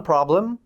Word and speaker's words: problem: użyć słowa problems On problem Problem brzmi podobnie do polskiego Słowa problem problem jest nieco inaczej akcentowany Możesz spróbować problem ale